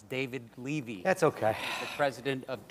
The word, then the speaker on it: David Levy: Ramsey ah I believe the name of my partner here was mispronounced it's David Levy that's okay the president